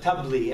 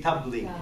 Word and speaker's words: tabli: If you're from Egypt, we call it tabli. Everybody say tabli.